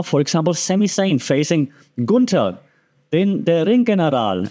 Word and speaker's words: Gunther: Right now, for example, Sami Zayn facing Gunther, der Ringgeneral. And that's how you pronounce it, by the way, because I'm German and Gunther is Austrian.